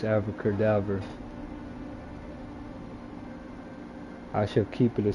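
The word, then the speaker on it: Avada Kedavra: think it's called abracadabra well it's actually pronounced ever cadaver which it instantly kills them it's the spell that I've been using to kill everything but it sounds like abracadabra but it's Alpha cadaver I shall keep it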